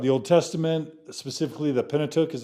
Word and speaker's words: Pentateuch: to talk about the Old Testament specifically the Pentateuch is how you pronounce it first five books of the Old